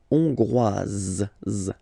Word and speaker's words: hongroise: La Hongrie, hongrois, hongroise. Okay, hongrois, grois, hongroise. Okay, so here final S not pronounced for the masculine form, and then you pronounce it here for the feminine form.